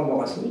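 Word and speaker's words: Moghassli: Et on arrive à l'école, c'était un sergent Morasni qui était là, ça s'écrit M-O-G-H-A-S-S-L-I, Morasni, et il nous laisse passer,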